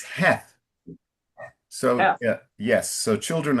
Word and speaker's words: Heth: A couple of suggestions, uh uh Ellington, it's it's in English it's Heth. So, yeah. Yes, so children of Heth.